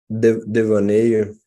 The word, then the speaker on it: devaneio: Devaneio.